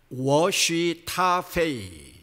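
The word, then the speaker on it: 我是他非: 한문으로 아시타비, 중국어로 발음을 하면 워쉬타페이.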